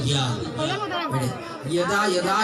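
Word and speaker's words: যদা: জয়ের উচ্চারণটা ইয়া, মানে ইয়দা ইয়দা হি ধর্মস্য গ্লানি, এরকম হবে আর কি।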